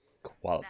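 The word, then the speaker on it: Qualopec: Qualapec. That's my interest. Thank you for pronouncing that.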